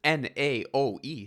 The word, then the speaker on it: Naoe: So we have the Japanese shinobi Naoi, I believe is the pronunciation, Naoe.